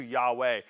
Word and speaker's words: Yahweh: The word I am in Hebrew is Yahweh. It's pronounced similarly to Yahweh.